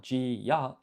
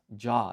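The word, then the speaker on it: じゃ: So this is not ji, ya, it's ja. It's a blended sound. It's a blended syllable.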